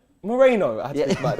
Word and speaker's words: Moreno: It's Moreno. I had to think about it. I'm never leaving this place. This is it. This is the ceiling for me, isn't it? No one's gonna blow me up. Moreno.